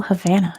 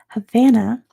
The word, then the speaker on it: Havana: Number one, Havana has more people of what occupation per person than anywhere else in the world? Also, Havana is the US pronunciation. I know it's Havana, but here we say Havana and it is doctors.